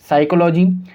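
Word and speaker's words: psychology: concept यह कहता है की एस से पहले जब ये पी को लिखेंगे तो पी साइलेंट होगा तो हम इसको क्यों पढ़ेंगे साइकोलॉजी साइकैटरिस्ट और साइको थेरेपी तो आप इन जब मैंने सभी शब्द को पढ़ा तो आप ध्यान से सुना होगा की इन सभी शब्द के अंदर पीस साइलेंट था हमने पी का साउंड प्रोड्यूस नहीं किया तो चलिए इस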